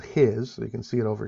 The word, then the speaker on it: His: of hiss it's spelled his so you can see it over here his right but it's pronounced hiss like a sound a snake would make and the bundle of